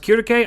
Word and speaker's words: Circe: I know her name's pronounced Kirike. I'm never going to call her that. You're going to have to bear with me calling her Circe. Circe in FGO has the title of being the Falcon Witch.